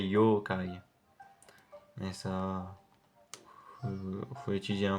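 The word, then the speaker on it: 妖怪: japonaises un peu voilà et d'ailleurs ça se prononcerait yookai mais ça faut étudier un peu le japonais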